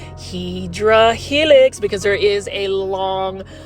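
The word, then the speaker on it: Hedera helix: those that don't know I mispronounced um hyera Helix English ivy is hedra Helix because there is a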